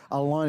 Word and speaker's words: Alain: Alain, it's a French name, yes.